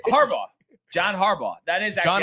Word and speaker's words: Harbaugh: No, it's Harbaugh.